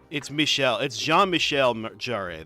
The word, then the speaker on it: Jean-Michel Jarre: I've got Oxygen by I'll never say it right, Jean-Michel Jarre. It's Jean-Michel Jarre, that's it.